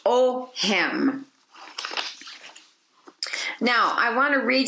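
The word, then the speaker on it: Ogham: ancient celtic language and it is pronounced o him now i want to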